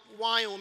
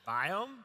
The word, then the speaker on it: Viome: Biome? Wyome? Biome. That's whatever you say. It's V as in Victor, I-O-M-E.